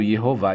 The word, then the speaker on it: Yehová: Então, o nome de Deus era pronunciado Yehová.